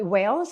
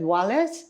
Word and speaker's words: Wales: So I said Wales. I didn't say Wales. I said Wallace.